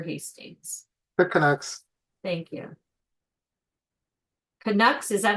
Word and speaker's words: Canucks: Kucks. Is that how you say it? Yes, that's how we pronounce it here.